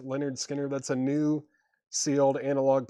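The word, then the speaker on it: Lynyrd Skynyrd: Then Leonard Skinner, pronounced Leonard Skinner.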